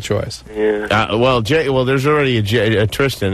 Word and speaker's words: Tristan: I like Tristan. I do. Yeah, it rhymes with fistin.